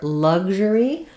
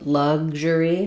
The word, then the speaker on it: luxury: um so luxurous so for luxury there's two correct pronunciations I can either do lug um so luxury where I'm not releasing that G and I have the J sound like measure or visual luxury uh so